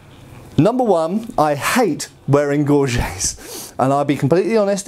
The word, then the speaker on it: gorget: form of throat protection, commonly called a gorget or gorget, depending how you want to pronounce it. Gorget is correct.